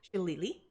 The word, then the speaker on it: Xilitli: The name is spelled Xilitli, but it is pronounced Shillelagh.